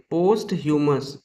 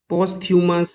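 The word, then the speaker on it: posthumous: पोस्ट ह्यूमस इसको pronounce करते हैं पोस्ट ह्यूमस, लेकिन कभी कभी सरल और आम बोलचाल की भाषा में हम इसे पोस्थ्यूमस या पोस्थमस भी बोल लेते हैं, लेकिन यह शुद्ध उच्चारण नहीं है।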